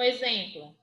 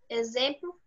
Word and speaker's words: exemplo: Como exemplo. Enxofre. Enxofre. Enxofre, certo? E com o sonzinho de Z. Z mesmo. O X com o som de Z. Exemplo. Exemplo, e tem outra.